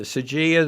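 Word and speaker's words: Saiga: A new new Sagia, yeah. And the only reason I pronounced it that way is we had a Russian in one of our classes, and that's how he said. So the Sagia, the Benelli M4, and it's the Mossberg.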